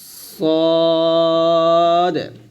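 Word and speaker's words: صاد: নুক্তা এটা হবে স আমরা অনেকে সদ বলি সয়াদ বলা যাবে না বলতে হবে সদ আর যখন নুক্তা থাকবে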